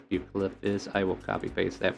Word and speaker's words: Bucephalus: I think it's Bucephalus. I will copy paste that for you because who knows? Maybe I can't say words, but you tell me how that's said. Bucephalus? Yep, Bucephalus.